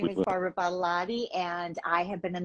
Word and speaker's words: Badolati: But my mom taught me to reverse Badolati and lot of body. And she said, if you tell people it's a lot of body and then just flip it, Badolati, people will pronounce it and they won't forget it.